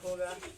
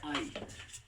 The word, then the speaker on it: high: IGH साथ में आएगा तो इसको हम लोग बोल देंगे आई। जैसे HIGH, अब कितना भाई साहब इसको पता है क्या बोलेंगे? इसको बोलेंगे हिग, लेकिन हिग नहीं लिखा है।